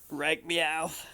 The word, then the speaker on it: Reichmuth: Reich meow.